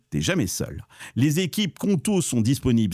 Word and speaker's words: Qonto: Les équipes Conto sont disponibles 7 jours sur 7 et tu